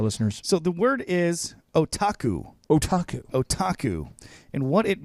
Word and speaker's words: otaku: introducing to our listeners so the word is otaku otaku otaku and what it means is Grande